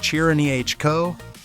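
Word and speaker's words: Cirneco: The Cerneco dell'Etna, pronounced Chiranico, is named after an actual volcano, and it kind of hunts like a living artifact.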